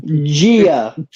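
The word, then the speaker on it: Jia: In terms of Jaya and Rebecca Hall, I do feel like we are kind of just thrown in. Jaya? Isn't that how she's pronounced? Gia, motherfucker. Okay, well, everyone around me pronounces it as Jaya.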